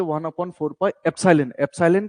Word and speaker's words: epsilon: ठीक है, इसको कैसे प्रोनाउंस किया जाता है देखो, इसको रीड करना सीखो। इसको हम EPSILON, एप्सिलॉन।